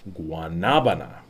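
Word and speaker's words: guanábana: uh its real name guanabana accent is on the second a so it's guanabana um sometimes it's called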